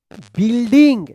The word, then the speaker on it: building: द क्या पढ़ेंगे, whole, यहाँ पे H साइलेंट वाला, होल बिल्डिंग. देखिए यहाँ पे BUILDING, यहाँ पे ING अगर नहीं रहता तो इसके पढ़ते बिल्ड पढ़ते हैं. यहाँ पे यू जो है ना साइलेंट है, बिल्डिंग.